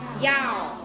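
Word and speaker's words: 幺: ý một tí xíu, nếu như mà trong số điện thoại mà có con số 1 á thì mọi người nhớ đọc là gì? Yao.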